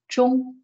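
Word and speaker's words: 忠: So first of all, this character is pronounced as zhong.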